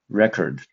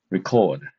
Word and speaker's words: record: For example, this English word uh if we pronounce it as a record, so the stress is on the first syllable.